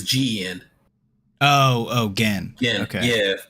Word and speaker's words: Gen: Is it not pronounced Jin? It's Gin. Jin. It's Gen.